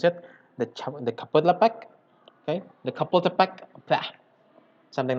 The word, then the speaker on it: Chapultepec: Okay, about the Chapultepec Park, Mexico City in Mexico.